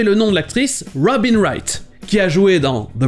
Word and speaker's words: Wright: courant pour dire artisans se prononcer exactement comme le verbe to write écrire les w et le g h i ci sont muets et on enchaîne quasiment